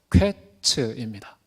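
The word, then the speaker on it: קֵץ: 근데 끝이라는 말의 히브리어 발음은요, 퀘츠입니다.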